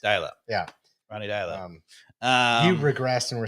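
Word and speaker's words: Deila: Ronnie Dyla. You regressed and were saying Dela earlier.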